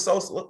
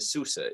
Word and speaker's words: Sousa: Don't pronounce his name as if he's like a new nickname for Chief Keef. Okay, it's Silvio de Sousa, is it not?